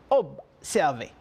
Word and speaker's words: observer: Et observez, on a observé, le son sonne comme B, mais ça a tendance un P. Observer.